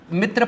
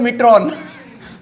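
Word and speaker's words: मित्रों: और एक होता है मिट्रॉन। मैं समझा नहीं, मैं मिट्रॉन पढ़ रहा था, बाद में पता चला मोदी की फोटो दे, अच्छा मित्रो लिखा है, मित्रो के आखिरी में एन साइलेंट होता है।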